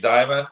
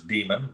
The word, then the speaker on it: Dimon: With Jamie Dimon, I like to mispronounce his name as Demon, because that's about what